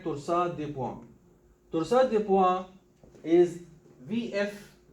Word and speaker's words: torsade de pointes: So torsade de pointes. So this is a twisting of the points. Some people read it torsades de pointes. Actually, it's a French word. So this is how to pronounce it.